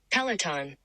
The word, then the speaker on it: Peloton: Peloton.